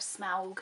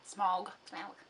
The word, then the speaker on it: Smaug: get to the mountain that's the desolation of smaug smog smog how do you say that smog okay so that's the first one and then